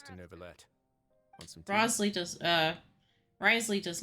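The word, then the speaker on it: Wriothesley: I just keep trying to say Rosley. Fine, I'd like to get some tea. Which technically is how it's spelled, but...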